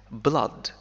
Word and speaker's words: blood: هناك كلمات أخرى ننطقها كblood فيها حرفي O-O مثل flood, blood, flood.